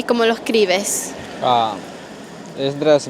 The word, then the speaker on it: Esdras: Esdras, se escribe, Esdras se escribe con E-S-D-R-A-S, es con.